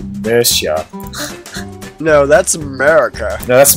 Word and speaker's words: Mercia: It's not pronounced America. It's pronounced Mercia.